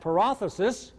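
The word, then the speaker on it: παράδοσις: a d OS is in modern Greek it would be pronounced paralysis I've studied Greek in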